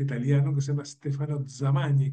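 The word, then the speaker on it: Zamagni: eh hay un profesor, hay un economista católico, un economista italiano que se llama Stefano Zamani con Z se pronuncia así la en italiano.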